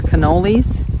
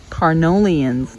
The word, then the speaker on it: Carniolan: which are they they're cannolis is that carnolians not cannolis i think that's an italian dish isn't it carnolians is that right here we go i guess i was so excited i didn't even pronounce it right myself it's called car nolan so i know that